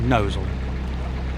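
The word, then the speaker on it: Gnosall: That's the place that's spelled gnoval, but it is actually nosal.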